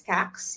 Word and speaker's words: Kax: everybody my name is CX you pronounce it as this the same as Fax Tax wax just for the people